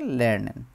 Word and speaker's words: Lernen: শেখা টু লার্ন লারনেন লারনেন লারনেন উচ্চারণ হচ্ছে লারনেন লারনেন মানে হচ্ছে শেখা কোন কিছু শেখা এবং